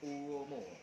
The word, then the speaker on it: Uomo: stick di lensa stick Cuomo ini bacanya uomo Nah jadi varian yang